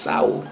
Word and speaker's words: Sowell: got some more Thomas Sophie and y'all kept on telling me he's saying them from my bad dang since it sounds like it's pronounced soul soul common sold y'all happy just kidding